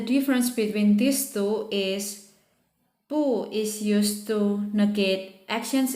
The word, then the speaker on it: 不: And when 不 followed by another tone like the first, second, third, or neutral tone, it's still pronounced as 不 with the fourth tone.